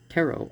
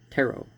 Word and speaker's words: tarot: let us now examine the word tarot or tarot you know because they're not pronouncing the t so you don't see